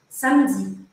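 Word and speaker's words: samedi: Sam Sam se escreve mas esse e do meio da palavra a gente praticamente faz desap Então você vai falar um pouquinho mais curto Sam Sam e o último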